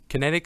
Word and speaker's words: Kinetix: Kinetix, so it's like kinetic energy, but instead of a C, it's an X. So it's just Kinetix.